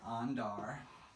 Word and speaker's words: andar: So there's 2 syllables for andar. It's on and dar, okay?